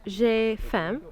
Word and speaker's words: j'ai faim: And really, you should be saying, j'ai faim. Or you don't pronounce the M.